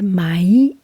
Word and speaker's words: Mai: And in Bretagne, it's pronounced like Mai, M-A-I, Mai Manac.